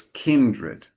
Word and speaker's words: kindred: Then you you pronounce all right, kindred. In this case, no. It's it's like it's kindred.